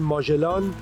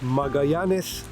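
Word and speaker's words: Magallanes: The same strait , which we actually call Magellan, but in Spanish it is called Magayans , and of course he was Portuguese and has a different pronunciation.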